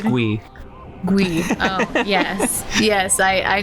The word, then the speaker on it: GUI: Pronounced GUI.